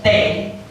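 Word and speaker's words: Thwe: My surname is Tay, T-H-W-E. Don't pronounce it as T because of everything I'm not good.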